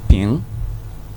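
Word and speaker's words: 瓶: You have a quantifier like ping. What? Ping. Ping. Ping. Ping. Yeah, it's spelled P-I-N-G, but it's pronounced ping.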